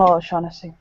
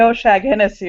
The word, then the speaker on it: O'Shaughnessy: As long as you don't call me O'Shag Hennessy, we're okay.